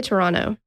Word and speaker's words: Toronto: do you say it I just say Toronto OH Toronto I get rid of that t throw it right out the window I like it Toronto